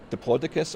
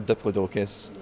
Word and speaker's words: Diplodocus: I've heard it as Diplodocus or Diplodocus.